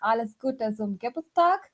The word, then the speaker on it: Alles Gute zum Geburtstag: So at least the greeting for the birthday stuff is pronounced Alles Gute zum Geburtstag.